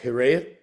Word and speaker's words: hiraeth: Uh, I think it's pronounced Hiraeth. Oh, Do I you think I've know the seen it word? written down. Yeah. I Yeah, think I'm vaguely aware. H Yeah. Hiraeth.